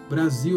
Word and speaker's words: Brasil: Só que na palavra Brasil, ela vira um Z, ela fica vocalizada, né? Tem a vibração da garganta acompanhando esse S, né? Aí vira o Z de Brasil. E outra particularidade é que a letra L no final acaba virando um U, né?